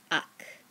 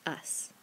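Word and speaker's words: haz: For hacer, if we just took off the ending, it would be pronounced ak. We don't want it to be pronounced ak. We want it to be pronounced as. Hacer, as.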